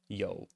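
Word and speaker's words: 有: uh to to have or to exist uh pronounced Yo which you might have seen elsewhere very common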